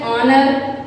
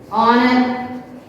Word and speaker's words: honor: H is silent here.